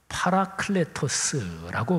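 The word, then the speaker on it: παράκλητος: 보혜사는 헬라어로 파라클레토스라고 발음합니다. 이 파라클레토스라는 말을 우리말로 번역한 말이 보혜사인데 이 번역이 참 멋진 번역입니다.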